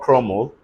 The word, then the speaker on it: crumble: Watch out for CRUMBLE. This is not crumble. Everybody say crumble.